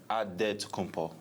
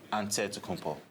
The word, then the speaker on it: Antetokounmpo: The Nigerian way, you gotta say with a D, so it's Antetokounmpo. But in the Greek way, you say with an NT, like Antetokounmpo.